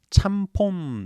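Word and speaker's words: ちゃんぽん: 차오마미엔에서 짬뽕 이렇게 됐다 또 일본 식으로는 참폰 이렇게 발음을 합니다 찬 폰 이런 발음이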